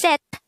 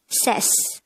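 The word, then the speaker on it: 셋: have the t sound therefore this is pronounced as set and not says and that is number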